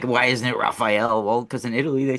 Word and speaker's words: Raffaele: In Italy, they they have that Raphael, that a at that, but it's with an e, but it's pronounced Raphael.